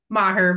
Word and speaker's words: Maher: And also joining us is Maher. Did I pronounce that correctly? Maher, but I'll take it anyway.